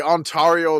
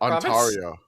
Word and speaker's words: Ontario: The Yeah, the Ontario license plates were everywhere. Run that one back. How did you pronounce that? Antario.